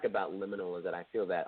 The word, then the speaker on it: Liminal: Liminal, yeah. Is that how you say it? Liminal. Yeah. Okay. Liminal. Liminal. Okay. So Give me a little bit of information about that. Yeah. So liminal is like the suffix of subliminal.